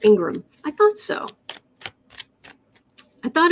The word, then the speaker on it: Ingraham: going on here eileen says it's pronounced ingraham's pronounced ingram i thought so i thought it was laura ingraham but it's not how it's spelled so again